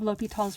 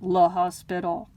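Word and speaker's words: L'Hôpital: i hope you love l'hopital's rule as much as i do and i hope you also pronounce it as l'hopital not law hospital so l'hopital's rule is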